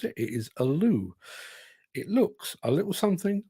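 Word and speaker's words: Ålö: from those fine folks at Aloo it's not Aloo as I used to pronounce it it is Aloo it looks a little something like this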